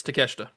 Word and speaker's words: Takeshita: Yes, Takeshita.